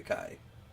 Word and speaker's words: chi: X says it's chi. Okay, Kai. Okay. Also, sigma's not quite E. Because there is epsilon. It is an E. Yeah, it's Kai. Oh, pronounced as Kai.